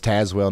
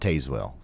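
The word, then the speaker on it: Tazewell: is uh sheltered okay so it's tazwell not tazwell gotcha okay I'll think I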